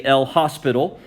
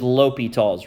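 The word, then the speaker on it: L'Hôpital: busted out laughing because you thought I was gonna say L hospital that's how it's spelled but the way that it said is l'hopital's rule okay here's what l'hopital's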